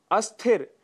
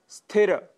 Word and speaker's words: स्थिर: स्थिर की जगह हम अस्थिर या स्थिर शब्द का प्रयोग करते हैं, जबकि शुद्ध शब्द है स्थिर।